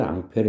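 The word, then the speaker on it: Ampère: 베르트 로드가 있습니다 이 프랑스 사람 의 발음을 미국 18 미 암페어 입니다 그 앙페르 한 사람이 도선에 전류가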